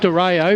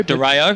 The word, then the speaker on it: Dario: Lachlan Harry had front spot, and then coming through was Calvin Dario. Is that the pronunciation, Brash? I call it Dario. Dario? Yep.